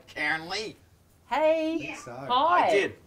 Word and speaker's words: Cairnlea: We're going to Cairnley Park Primary School. Did I pronounce that right? Cairnley?